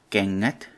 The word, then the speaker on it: kengät: It is used in such words as kengät. It is pronounced the same as in English. Yes, in the word English. and in the word king.